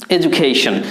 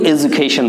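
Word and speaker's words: education: এডুকেশন। কেউ এডুকেশন বলে, কেউ এজুকেশন বলে। ব্রিটিশ আমেরিকান অ্যাকসেন্ট, মানে দুটোই উচ্চারণ ঠিক আছে, একটা ব্রিটিশ একটা আমেরিকান।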